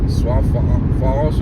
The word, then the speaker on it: Sioux Falls: How do you pronounce that? Sioux Falls Sioux Sioux Falls? Sioux Falls Makes no sense. Sioux Falls Why would you add an X to it?